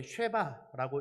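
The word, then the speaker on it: שבע: 근동 지방에서이 7이라는 숫자는 히브리어로 이제 쉐바라고 읽습니다. 쉐바라고 읽는데이 쉐바라는 글자는 그 당시에 이제 지금도 그렇지만 모음이 없는 단어이니까 이제 히브리어 글자는 이제 모음이 없는 자음 세 글자로 이루어진 단어들입니다. 그렇기 때문에 이제 쉐바라고도 읽고 시바라고도 읽고 뭐 세바라고도 읽고 뭐 여러 방식으로도 이것을 읽는다라는 것이죠.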